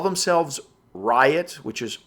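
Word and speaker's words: RYOT: group they call themselves Riot which is R yo T pronounced like there's a riot and their company was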